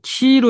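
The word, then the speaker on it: Chi-Rho: XP, 이거를 X는 키로 읽고요. 이 P자는 우리가 R로 읽으면 돼요. 그래서 키로예요. 크리스토의 앞에 자, 크리에서 XP가 된 겁니다. 키로라고 읽어요.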